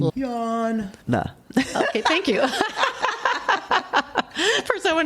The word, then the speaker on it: Iyanla: Yeah, Iyanla. I know. I couldn't either. I had to always write it like E and then Iyanla.